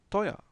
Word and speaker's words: teuer: Doch, aber das Restaurant ist zu teuer. Rappelez-vous du Z qui prononce ts, zu, teuer. Et la diphtongue oi ici.